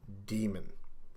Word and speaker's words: Daemon: in English demon spelled D AE ignores that and it should always be pronounced as demon with Without Really exception